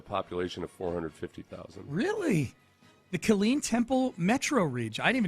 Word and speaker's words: Killeen: Yeah, it's the 5th largest city in the Kylene Temple metropolitan area. I didn't even know. No, it's Killeen. Yes, that's how people who aren't from Texas pronounce it, Sean.